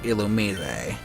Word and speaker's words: Illumise: I didn't think evasion was that big of an issue for Illumise. And before anyone says anything, yes, it is officially pronounced Illumise.